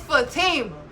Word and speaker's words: Fatima: She pronounced Big Tima name wrong. Fatima corrected her instantly. It's Fatima.